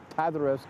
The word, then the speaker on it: Paderewski: That's right, Arthur Rubinstein from Łódź, and he follows in the tradition of Chopin as a pianist, of Ignacy Paderewski, Ignacy Paderewski, let me say it right, the famous Polish pianist of the early 20th century, and Arthur Rubinstein later.